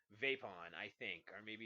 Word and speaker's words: VIPON: I believe it's pronounced Vapon.